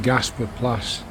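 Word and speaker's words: Gaasperplas: It's in southeast Amsterdam and near a district called Gasperplas, in the Dutch pronunciation Gasperplas for most Brits and Americans, I would guess.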